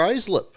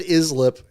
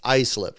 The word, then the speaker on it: Islip: Because I said Islip in field fillers, and then that was clearly not right. So it's Islip, right? So you actually pronounce the I as an I slip.